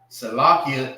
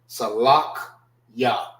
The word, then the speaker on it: Salachya: I know I always hear Salaki. All right. This is not Salaki. It's actually Salakiya. Salakya. That's how you properly pronounce it. Salakya.